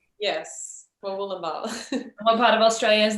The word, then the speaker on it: Murwillumbah: Murwillumbah. Murwillumbah. Yes, Murwillumbah.